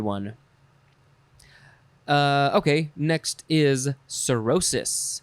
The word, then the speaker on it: cirrhosis: find a good one uh okay next is cirrhosis h c-i-r-r-h-o s i s cirrhosis noun from